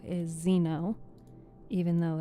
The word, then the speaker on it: xeno: X E N But it's actually pronounced with like a Z.